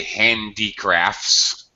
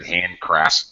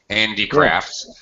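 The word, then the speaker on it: handicrafts: Uh obviously handiccrafts. Okay. You missed a syllable. I heard handcrafts. Julio heard handcrafts. But handiccrafts. Okay.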